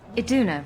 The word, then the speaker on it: Iduna: Iduna, right? Ah, I got pronunciation Do you right.